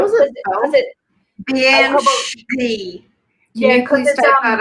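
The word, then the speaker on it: bean sidhe: Banshee. Can you please type that out? It's BEANSIDHES, 2 words. What? Yeah. So like bean, like the word bean, but pronounced differently.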